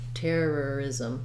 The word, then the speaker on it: terrorism: is we have the voiced z sound for the letter s ism ism you might even have a little bit of a schwa sound in there is um just not too long of a syllable terrorism terrorism you might